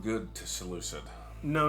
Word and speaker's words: Seleucid: Which, how do you say it? Well, interestingly enough, Seleucid? Roger, there three different ways to say it. Okay? I'm just going to say Seleucid. The American way to say it actually makes it